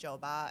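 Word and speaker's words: 酒吧: not so if you're saying a bar it's pronounced Joba and the first character Joe means liquor um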